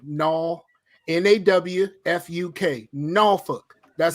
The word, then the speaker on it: Norfolk: you gotta come on Norfolk Norfolk that's how you say it no hell no don't put these don't don't put don't pronounce the L no n-a-w-f-u-k Norfolk that's how you pronounce